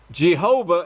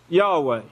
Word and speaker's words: Yahweh: King James Version is actually Yahweh that they pronounced Jehovah in the King James Version but they all know now that it's Yahweh so Yahshua and that is the name that